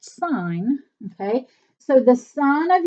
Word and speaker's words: sine: want to call this sin make sure that you don't make the mistake it's actually pronounced sign okay so the Sun